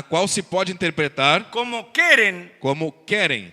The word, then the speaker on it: Keren: Es una palabra hebrea É uma palavra hebreia que se escribe KRN que se escreve K-R-N, y la cual se puede interpretar na qual se pode interpretar como Keren como querem o Keren, ou querem, lo cual